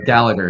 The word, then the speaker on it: Gallagher: mangle your name no Gallagher yeah it's a it's it's a mouthful of Irish syllables so like I I